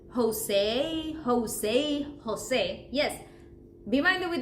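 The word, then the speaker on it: José: with C Jose Jose think like think about it as when you pronounce elephant right entertainment always that initial sound of the E is going to be the sound of r or E the whole time we don't switch it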